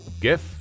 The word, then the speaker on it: GIF: right i get it the inventor says jif as in jiffy it lives in a jiffy blah blah blah blah but it's not pronounced graphic interchange format so i kind of think it's gif anyway while considering this